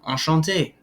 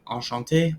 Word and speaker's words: enchanté: Since I'm male, I don't write the E, but either way, they're pronounced the same. Enchanté, enchanté. They are pronounced exactly the same.